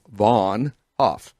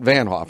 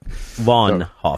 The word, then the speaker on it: Vaughn Hofe: And it's Vaughn Hofe. Not Van Hoff. Don't say that. Vaughn Hoff.